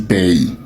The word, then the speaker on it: pays: suspend compliquer la vie on dit pays ce n'est pas pays le mot se prononce pays pays comme dans été donc ce n'est pas pays le mot c'est pays la direction notre deuxième